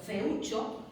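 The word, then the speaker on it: feúcho: aguda acabada en Z, feucho, feo no lleva tilde, porque es una palabra llana acabada en vocal, pero feucho, que también es una palabra llana acabada en vocal, lleva tilde porque si no tendría que leer feucho.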